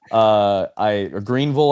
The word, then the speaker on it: Greenville: Greenville, I think is is how they make sure to pronounce it with a U.